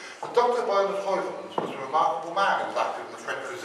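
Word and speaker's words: Heuvelmans: and it's Tak me years realized his names pronounced HOV H but Dr Bern hovens was a remarkable man who was AC in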